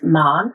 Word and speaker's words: Mahon: my name is man m a h n so it's Irish but we pronounce it the English way so a bit strange